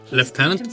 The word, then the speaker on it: lieutenant: Forgive me, but it seems left tenant Harrington has made himself responsible for your care. Left tenant. Lee tenant. That's the that that's an accurate pronunciation.